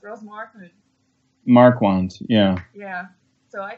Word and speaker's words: Ross Marquand: Yeah, it's Ross Marquand.